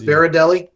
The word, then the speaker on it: Berardelli: Is it pronounced Berardelli, like Giardelli? Yeah, but only sweeter.